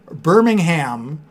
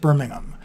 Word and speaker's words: Birmingham: If you ever feel lonely, VBug, just mispronounce Birmingham in a YouTube video and you'll have people flood to talk to you about how it's actually pronounced Birmingham.